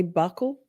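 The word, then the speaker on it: buccal: I'm all about that bul swab, but I know folks say buckle.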